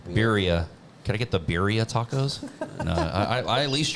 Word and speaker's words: birria: been pronouncing it wrong, is it Bedia? But yeah, I guess that's how you would say it in Spanish. Yeah, man. He's The like white person Authentic. way is Birria.